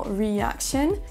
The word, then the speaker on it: reaction: Dans l'extrait suivant, on va entendre le mot reaction qui devrait s'accentuer sur la deuxième syllabe.